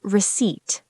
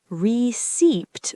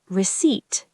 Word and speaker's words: receipt: It's receipt. Receipt. Receipt. Receipt. Huh? I've been saying it wrong. Many learners do. The P is there in spelling, but we don't pronounce it.